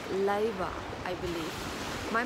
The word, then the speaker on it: 令和: And yes, we have now a new era name, Raiwa. R-E-I-W-A. So the R is pronounced differently in Japan, so it is more like Leiwa, I believe.